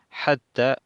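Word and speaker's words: حتى: doble está ya está pronuncien hasta con la t hata vi más nada aquí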